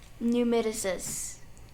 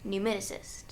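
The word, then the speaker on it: pneumatocyst: Say it, spell it, and say it again. Okay. Numiticist. P-N-E-U-M-A-T-O-C-Y-S-T. Numiticist.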